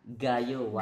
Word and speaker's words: Gayo Wine: Arabica Gayo Wine. Gaywan, gimana bacanya Pak? Gayo Wine.